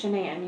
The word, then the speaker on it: Shanann: It's Shanann. You pronounce it like shenanigans.